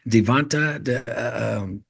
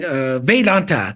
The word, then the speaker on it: Vedanta: I can't even believe I'm forget how to pronounce it right. Devanta, because you said the Vedas, so the ancient teachings of is it Devanta? The certain string Vedanta.